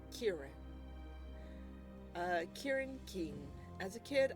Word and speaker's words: Kieran: It's pronounced Kieran.